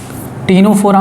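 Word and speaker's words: Ctenophora: टीनोफोरा में भी सी silent होता है।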